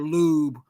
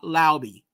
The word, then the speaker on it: Laube: Don't be saying Laub or Lob or Lube. He's not Lube.